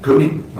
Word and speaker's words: Kootenai: Kootenai. Kootenai, okay. So Kootenai County, as the locals say it, okay.